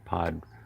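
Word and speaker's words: Pod Wawelem: separate word, Wavelem, and they pronounce the W's like a V, so it'd be W-A-W-E-L-E-M, I think, Podwavelem.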